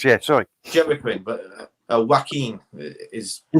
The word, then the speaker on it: Joaquin: sorry mcqueen but uh joaquin is he says you have a connection sorry i always thought it was joey quinn joe quinn sorry that's how you spell